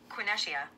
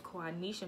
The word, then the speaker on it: Quaneshia: first of our series my name is Kwon Nisha not quite an issue uh or whatever you